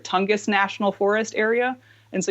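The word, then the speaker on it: Tongass: You're in, pronounce it right, Tongus National Forest area, and so you can go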